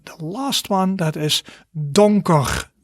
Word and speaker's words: donker: good and then the last one that is donker donker repeat after me don koch and that is